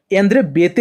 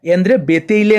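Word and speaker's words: Béteille: यहां पर ंद्रे बते जो प्रोनाउंस एशन है यह यंद्र बते होता है यंद्र बेतले नहीं होता है इसको आप लोग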